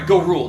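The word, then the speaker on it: Gorul: Go rule.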